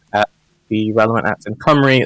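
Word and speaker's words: Cymru: you know look at the relevant apps in comray it's spelled c-y-m-r-u i'm glad i got i'm glad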